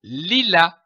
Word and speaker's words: lilas: Prenons une autre syllabe, comme par exemple la, qui s'écrit ici L-A-S et qui se prononce la. L'association de ces deux syllabes, li et la, donne le mot lilas, comme du lilas.